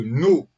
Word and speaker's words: Ѝ: Entre parenthèses, ça se prononce No, parce que le titre, c'est un gros N avec accent.